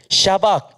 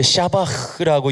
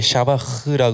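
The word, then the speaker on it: שבח: 근데, 자, 샤박 또는 이제 샤바흐라고 이야기해요. 정확한 발음은. 네, 좀 발음이 좀 그렇죠. 약간 가래 뱉는 발음일 수도 있는데, 이제 샤바흐라 그래요.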